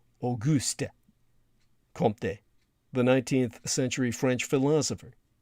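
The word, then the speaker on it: Auguste Comte: to the heart uh aist comp or the correct pronunciation would be AUST comp the 19th century French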